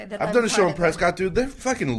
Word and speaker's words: Prescott: on the very top it says it's pronounced Prescot do not say Prescott on stage because they'll [ __